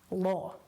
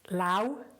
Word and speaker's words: law: lawyer, is often pronounced lao by learners. Lao. Because you don't pronounce English as you read it, it can be quite confusing. So it looks like lao, but it is law.